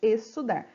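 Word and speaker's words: exsudar: Você não pronuncia o X, apenas o som do S, estudar.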